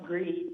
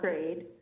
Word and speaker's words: GREED: residents against environmental destruction which is pronounced greed not grade i reviewed the feir